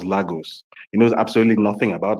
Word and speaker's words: Lagos: on a map and cannot pronounce the name of your country correctly, He pronounces Lagos as Lagos.